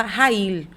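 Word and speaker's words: חַיִל: eh a mulher eh se escreve shal, mas se fala Rail, que é uma mulher o a o significado dessa virtuosa no hebraico vem de forte, de guerreira.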